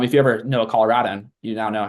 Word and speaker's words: Colorado: fun one the state Colorado we say Colorado it's rad as in cool not Colorado like a rod that's wrong you're false so um if you ever know a Colorado you now know how